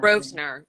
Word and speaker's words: Grosvenor: I don't know how to pronounce her last name. Grosvenor, yeah.